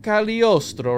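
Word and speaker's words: Cagliostro: a different way so count caliostro right we have this guy here g is silent the Jesus all right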